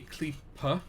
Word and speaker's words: Klippe: board so this is try and pronounce this right because we've always pronounced it wrong on the show but this is a clipper which is by mekinese